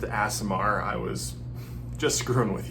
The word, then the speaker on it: Aasimar: will see you tomorrow also it's pronounced a samar I was just screwing